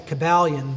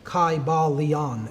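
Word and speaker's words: Kybalion: y sounds you know it would have been a long i sound kai ba leon and every syllable would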